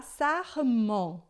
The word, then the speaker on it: sarment: Então aqui a gente vai falar sarment, tá? E isso que eu tô te explicando é importante porque eu nunca vi essa palavra. Não importa, você sabe pronunciar. EN em francês, né? EN a gente sempre vai pronunciar on, tá?